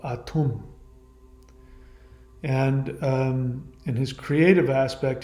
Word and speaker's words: Atum: Some people pronounce it Adam, but I think it's Atum.